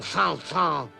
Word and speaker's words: Saint-Saëns: Camille Sanson. Correct. Correct. And I suppose you pronounce St.